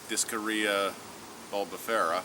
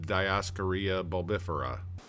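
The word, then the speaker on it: Dioscorea bulbifera: are really into botney the Latin name is discaria buera one small correction folks since Latin isn't my first language and I don't think Latin is anyone's first language this is actually pronounced diaria bifera and I'll put that below so you can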